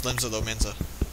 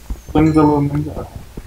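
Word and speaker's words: Limsa Lominsa: I went to Limsa Lomzana or whatever. I don't even know how to say that. Is that how you say it? It's Limsa Lomenza. Limsa Lomenza.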